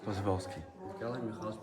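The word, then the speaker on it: Przewalski: How do you pronounce his name? Przhevalski? Przhevalski.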